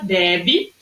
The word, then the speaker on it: bebê: Uma tem um acento, não tem acento circunflexo, mas é pronunciada de forma mais aberta, bebe, e a outra com acento circunflexo tem uma sílaba que é mais fechada, bebe, tá bom?